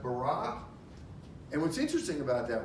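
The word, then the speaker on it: בָּרָא: It's pronounced bara.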